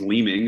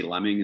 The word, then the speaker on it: Leeming: me um so yeah my last name is leeming it's pronounced with two e's right and some people always say lemming and my dad was